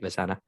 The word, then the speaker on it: Visana: Oh, I said that right, Visana. You nailed it. Awesome. But before we Awesome. yeah, I know that's a tough one, right? Visana, yeah. I think it sounds like it's spelled, right?